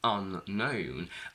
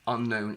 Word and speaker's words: unknown: When we go from known to unknown, unknown is obviously the opposite and it has 2 syllables, and here we have a secondary stress.